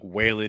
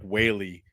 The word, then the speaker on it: Whaley: I thought she said Doug Whalen. It's Doug Whaley.